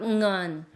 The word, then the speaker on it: เงิน: ฝ า ก ง ิ น, ฝ า ก ง ิ น. 이 응언은 money란 뜻이에요. 돈. ง ิ น. ng어가 첫 소리로 오는 발음이기 때문에 발음이 좀 쉽지 않아요.